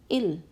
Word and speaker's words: ils: It becomes il. It is not pronounced as ils. It will remain il, but it means they, masculine they.